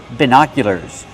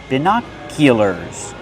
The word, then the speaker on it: binoculars: Use the short is sound like this is, bina. Put the stress on the second syllable. It's an open sound like hot and stop. Bina. Binoculars. Make the y sound like in yes, in yellow. Binoculars. And the sound like burger.